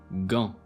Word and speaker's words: gant: and elsewhere is pronounced as G, ego, gant.